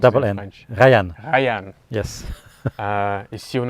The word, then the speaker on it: Rayann: Yes, so it's Rayann, it's Rayann. Yes. Yes, not the English Ryan. No, not English Ryan. It's Rayann. R-A-Y-A. How do you pronounce it in French? Rayann.